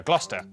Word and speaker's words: Gloucester: Cester is pronounced stir. Leicester, Worcester, Gloucester. W at the start of the final syllable is silent.